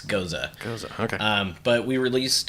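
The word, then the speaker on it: Gose: Yeah, you'll hear goes a lot. That's what I heard. Technically, it's goza. Goza. So I'm gonna be super anybody's smart right ever wondered how to say that word, it's goza.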